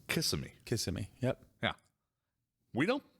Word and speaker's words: Kissimmee: It's not Kissimmee. It's Kissimmee. Kissimmee. Yep. Yeah. We don't respect any of the pronunciations for the places around here.